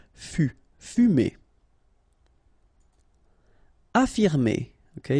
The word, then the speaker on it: affirmer: Affirmer. Okay, even if we've got two F, well, only one should be pronounced, so affirmer.